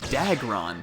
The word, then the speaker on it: Dagron: It's pronounced Dagron, pussycat.